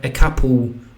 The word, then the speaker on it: couple: Couple. Couple ma to do siebie, że ma lkę w środku. Dlatego tę lkę będziemy wymawiać jak ł. Dlatego jest prawdopodobieństwo, że kokni może wymienić, wymówić to jak ekapuł ekapuł.